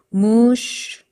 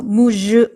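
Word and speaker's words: muž: 그러면 얘를 어떻게 발음하니이 유성음 해당하는 무성음으로 발음을 하라는 뜻이에요 무슈 이렇게 왜 그런지 아시겠죠 자 유성음 성대를 움직이거나 떨 떨어야 되는 건데 단어 끝까지 그걸 하려니까 너무 힘이 드는 거예요 그래서 무즈 하지 말고 무 이렇게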